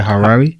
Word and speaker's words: Harare: say the capital city name is it a harare yes sarah all right nice but i'm actually